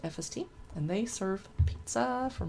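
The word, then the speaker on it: Efeste: there is FST spelled EF e ste but pronounced FST and they serve pizza from a wood-fired oven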